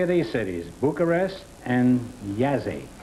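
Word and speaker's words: Jassy: Bucharest and Yazzie. Y-A-S-E, it's pronounced. It is spelled J-A-S-S-Y. Oh. Bucharest and Yazzie.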